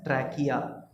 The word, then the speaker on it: trachea: Moving on, the trachea, pronounce इसको करते हैं as trachea. Trachea is the wind pipe.